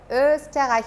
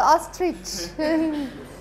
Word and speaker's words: Österreich: Österreich, you can pronounce that in the meanwhile? Or is it still the ostrich? No, it's Österreich, right?